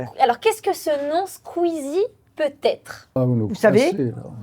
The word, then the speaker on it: Squeezie: Ah, Squeezie. Bien prononcé déjà.